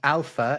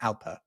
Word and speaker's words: alpha: Yeah, and alpha is spelt with an F in the NATO alphabet rather than a PH because, well, it's obviously a bit complicated to spell it with a PH, but they were particularly worried that Spanish people would pronounce it alpa, which, I don't know, for some reason that is really bad.